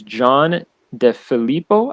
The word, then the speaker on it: John DeFilippo: His name is John DeFilippo, I believe is how you pronounce it.